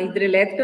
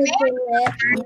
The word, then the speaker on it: hidrelétrica: Eu coloquei a usina hidrelétrica. Por onde vai o agudo? Hidrelétrica. Onde, pronto, que você vai olhar? No Lé, né? Hidrelétrica. Não é a sílaba mais forte?